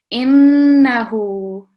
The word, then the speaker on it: إنه: So the noon mushaddad, a lot more emphasis and a slight nasal sound as well when you're pronouncing innahu. Okay, a lot more emphasis on the noon.